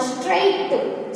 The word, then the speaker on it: straight: इसको हम बोले तो स्ट्रेट। स्ट्रेट नहीं बोलते हैं, क्या बोलते हैं? स्ट्रेट। स्ट्रेट। GH का हमें यहाँ पे क्या करना है? उसको हमें प्रोनाउंस नहीं करना है।